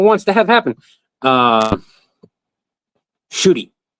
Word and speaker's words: Chibnall: Um Chibnall I think I think is how it's pronounced according to Ian here.